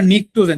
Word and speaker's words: নিকটোজেন: ঠিক আছে, তো দেখো এটা এবারে নিকটোজেন, যদিও পি এর উচ্চারণ হয় না।